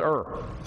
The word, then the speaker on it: Hur: Aaron Her. Her. Yeah. But yeah, we're Southern. That's Ur. Yeah. We don't pronounce the H in the South.